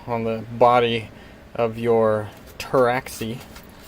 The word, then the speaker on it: Pteraxii: the body of your terraxi the t is silent just like in French now the steel and